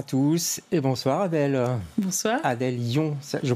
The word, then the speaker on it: Adèle Yon: Adèle Lyon, je prononce bien, ça va?